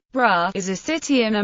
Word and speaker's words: Braga: bragger Portuguese pronunciation bra is a city in